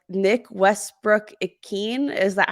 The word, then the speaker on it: Westbrook-Ikhine: Like Nick Westbrook-Ikhine, is that how you Yep.